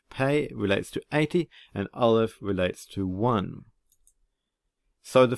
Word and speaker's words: aleph: we head into 5781 well aleph is a silent letter it's the first little hebrew alphabet and it has no sound in and of itself and perhaps